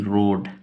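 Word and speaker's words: road: word को जैसे कि रोड अब ये रोड कैसे है तो आर से र ओ से ओ का डी से ड ए का उच्चारण नहीं होगा रोड डॉट अब ये डॉट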